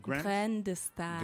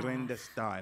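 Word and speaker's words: Graines de Star: How do you pronounce it? Grains de Star. Grains de Star.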